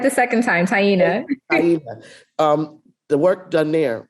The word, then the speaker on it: Taina: And I didn't even give Tiana, I always say your name wrong, Taina.